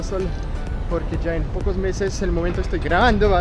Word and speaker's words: Metz: alcaldía de metz bueno se pronuncia meses no se pronuncia metes aunque muchos empresas incluso